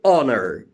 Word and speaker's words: honor: If I say honor, H-O-N-O-R, honor, in honor again H is silent.